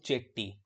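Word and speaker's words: Chetty: के शनमुगम, शन मुघम चेट्टी, ठीक है, शेट्टी भी बोलते हैं, या फिर कुछ लोग इनको चेट्टी, मतलब ये आपका प्रोनाउंसिएशन वैसे शेट्टी होता है, बाकी इंग्लिश में ऐसे लिखा जाता है, ठीक है।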